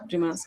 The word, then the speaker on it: Dumas: Is that how you pronounce it? Dumas.